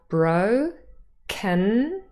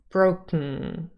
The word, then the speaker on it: broken: we have bro can but when we say it fast sometimes the can becomes broken so we have K and um right next to one another so you can see the um the nasal um as a November has changed into the um as an NG spelling and it's right next to the cut and the schwa has disappeared so broken becomes broken broken now this is a